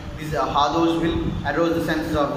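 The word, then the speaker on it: hors d'oeuvre: Like these hardous will arouse the senses of those taste buds, so on. And coming to the examples of hardous, see, maximum mispronounce it as hardouri as the spelling is, but it should be pronounced as hardou.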